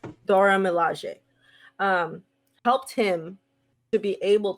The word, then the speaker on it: Dora Milaje: And we saw that, I'm going to say it wrong, but the Dora Milaje. Mm-hmm. Am I saying it right? Or Dora Milaje. That's right. Dora Milaje.